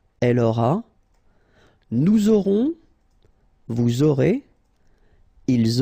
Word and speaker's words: aurez: Vous aurez. Alright, O, and then EZ at the end will give you this E sound.